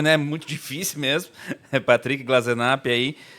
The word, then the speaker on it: Glasenapp: Pronunciou muito bem meu sobrenome, né? Muito difícil mesmo. Patrick Glazenap.